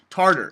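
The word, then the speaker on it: Tatar: Tater he's like yeah t a t a r we're like tartter in every in every language that's pronounced tartter but yes um but yeah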